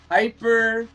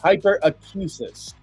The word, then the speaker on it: hyperacusis: Yeah, I do a liquid U. Hyperacusis. But it could also be hyperacusis. That is the sensitive hearing. So for our hyperacusis friends, maybe Joel, let's